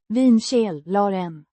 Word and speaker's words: vinkällaren: Pronounced. Vinkällaren. With emphasis on the first syllable.